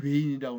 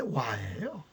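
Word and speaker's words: 倭: 근데 이 외인이, 우리는 외인이라고 그러는데 원래 와예요. 와글와글 와예요. 와라고 발음해야 됩니다.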